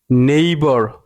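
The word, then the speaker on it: neighbour: শব্দের অর্থ কি ঘোড়ার ডাক নেই ঘোড়ার ডাক নেইবর নেইবর নেইবর এর অর্থ হচ্ছে প্রতিবেশী নেইবর তারপর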